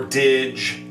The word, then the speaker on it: Dig: almost bought a strymon dig or dige however it is actually pronounced dig before when i was